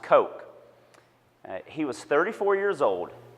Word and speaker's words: Koch: it looks like Koch but his name is pronounced Koch he was 34 years old in 1984 and